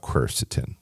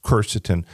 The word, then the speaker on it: quercetin: 10 years ago curs so let's talk about cerstin cerstin it's spelled q r c t i n right